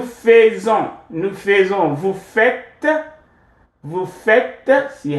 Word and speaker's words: vous faites: Vous faites. See how this is pronounced?